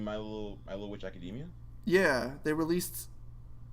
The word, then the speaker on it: Academia: I remember which Academia what a title it's Academia I thought it was Academy huh because it's spelled like Academy I don't know what do